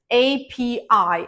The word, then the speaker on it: API: It's API. Again, pronounce it. I mean, you have to say it as separate letters of the alphabet.